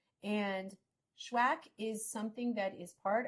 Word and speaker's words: SHUAC: I always want to say accepted which is also true and connected and those things spellwack and it's pronounced schwack like have you shacked someone today or has someone you